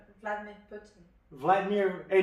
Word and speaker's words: Putin: Vladimir Pluta. How do you say his name? Vladimir Putin.